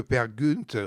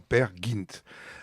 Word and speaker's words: Peer Gynt: Gunt ou pergint al c'est amusant parce que pergunt normalement c'est la prononciation française mais là Olivier P qui a réécrit qui a retraduit le texte d'enrik hipsen le enfin le fait interpréter sous la forme père gint bon peu importe mais